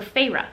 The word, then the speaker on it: Feyre: So she's been taken, so Feyre, finally learned how to say her name.